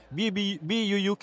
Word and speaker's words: buuk: kan, dia Wonder, WONDER, BUUK. BUUK ni kan buuk bah. Okay, dia dalam bahasa dusun lah, dia maksudnya buku. Dia macam bahasa Inggeris kan, tapi cara pronounce dia buuk.